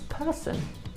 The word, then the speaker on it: person: The next one is person. Person. This one's a bit trickier. The O is replaced by the schwa e, so it's person at the end.